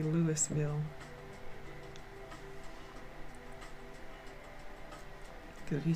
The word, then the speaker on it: Louisville: I'm in Louisville, Kentucky. Louisville. Louisville. I have to say it like that and remind myself that I live in the country now. Because no one says Louisville, they say Louisville.